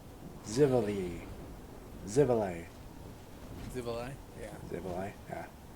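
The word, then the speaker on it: Xivilai: Zavala? Zivali. Zivali. Zivali? Yeah. Zivali, yeah. Because that's how X's are fucking pronounced.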